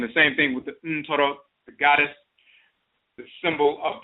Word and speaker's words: Ntoro: The term Ntoro, N-T-O-R-O, Ntoro, in Akan is the ancient term Ntoro, which is neter, mispronounced neter.